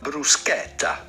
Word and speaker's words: bruschetta: Italian with the typical Italian pronunciation, bruschetta. Then because there is a double T here, insist on the E and the double T. Bruschetta. Do emphasize on that part of the word.